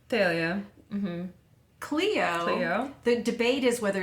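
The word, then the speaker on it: Thalia: melom is pronounced melamine phalia actually is pronounced correctly phalia Cleo the debate is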